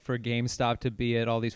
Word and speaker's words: GameStop: I also love on Twitter, I was seeing so many people mispronounce GameStop. No And I was like, way. one way to show that you have never played a video game in your entire life is to call it Game Shop.